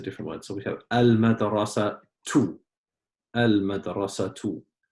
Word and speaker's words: المدرسة: So we have al-madrasatu. Al-madrasatu. So why did you pronounce it just with one dhamma, Lujain? Because of the alif lam. Because of the alif and lam.